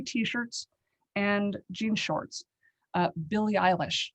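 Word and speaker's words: Billie Eilish: and jean shorts uh billy eilish wait is that correct billy eilish the singer is that how you pronounce it yeah i love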